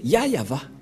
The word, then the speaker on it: Yahvah: bien que c'est bien son nom qui est yayava donc voilà le nom du dieu d'Abraham il